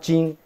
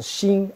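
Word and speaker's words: 鑫: Now they pronounce that not jin as xin, X-I-N.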